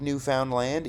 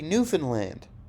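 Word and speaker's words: Newfoundland: easy and then we'll make fun of people for pronouncing it like new found land even though that's what it is it's going to be Newan land so that it doesn't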